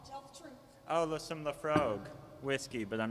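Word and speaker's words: Laphroaig: They pronounce it Lafroig in French, you know.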